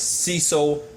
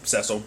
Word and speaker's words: Cecil: His name is Cecil, or Cecil, depending, I guess depending on where you're from, because that's how Sherlock pronounced it, but everyone else will say Cecil, but nevertheless.